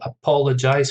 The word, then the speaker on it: apologize: so um first one apologize stress on the second syllable apologize for syllables apologize which